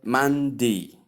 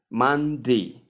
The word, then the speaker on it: Monday: Another way you can pronounce the word is still, although it's not shown here in the transcription, is still Monday. Like you pronounce the A sound as the mid short E sound.